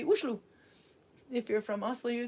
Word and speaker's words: Oslo: Olo, Oslo, Oslo.